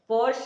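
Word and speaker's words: Porsche: पोर्श और Skoda के नाम के उच्चारण में इन सामान्य गलतियों की गई है।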